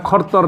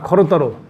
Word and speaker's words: খরতর: এরপরে খরতর, উচ্চারণটা খরতর না, খরতর। যদি এখানে ওকার নেই তারপর ওকার উচ্চারণটা করে নিতে হবে।